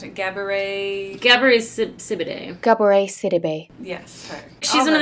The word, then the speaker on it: Gabourey Sidibe: From this segment that was what we thought was modern, but was actually the earlier part with, how do you pronounce it? Gabourey Sidibe. Gabourey Sidibe.